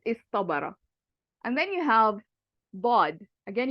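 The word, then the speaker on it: ض: And then you have bod. Again, you can hear the bod, very heavy.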